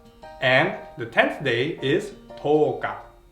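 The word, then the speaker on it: とおか: And the 10th day is toka. Yo naman, no? Papahabain natin si yo, dadagdagan natin ng o para maging mas mahaba ang pronunciation niya.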